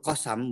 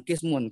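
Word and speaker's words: قسم: Wayatil qasam, bacanya qasam, jangan kismun. Kalau kismun artinya kelas atau jurusan.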